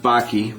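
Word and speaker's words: Bakke: that you talk about by the way it's pronounced Baki but that's okay not a big deal um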